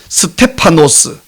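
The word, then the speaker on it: Στέφανος: 그 이름이 면류관인데요, 헬라어 발음으로는 스테파노스, 우리 개역 성경에는 스데반이라고 음력이 되어 있습니다.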